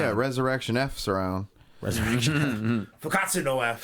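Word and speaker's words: 復活のF: Fukatsu no F.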